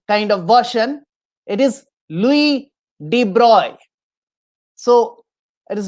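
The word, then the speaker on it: Louis de Broglie: pronounced correctly so for the students let me pronounce the correct correct kind of version it is louis de bruyne so it is not louise d broccoli very often we say so it is not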